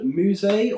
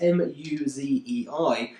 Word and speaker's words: Muzei: Uh, it's called Musea or Musei, however you want to pronounce it, it's mu zi, and it's a essentially a rotating wallpaper application uh that's become very popular online.